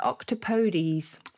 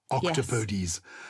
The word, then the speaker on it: octopodes: want to stick etymologically to its origin is octopodes that's it octopodes the podiums i'm warming have i got time